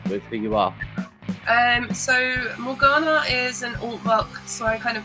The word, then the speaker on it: Morgana: Now, I did pronounce the band name properly, right? Yeah, Morgana, basically.